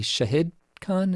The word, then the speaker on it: Shahid Khan: been informed i think i was mispronouncing your name it should be shahid khan is that correct okay